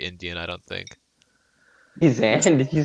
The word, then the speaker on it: Zayn: Hey, Zan? Did you say Zan?